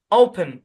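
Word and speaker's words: open: এখানে কি হবে এটা শো সাউন্ড ব্যবহার হবে ওপেন ওপেন হওয়ার কথা ছিল ইয়ে শর্ট সাউন্ড কিন্তু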